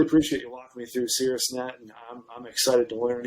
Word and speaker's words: Caerusnet: google search if you don't know how to spell it c-a-e-r-u-s-n-e-t that's it cirrus net or you could just search facilitated referral teams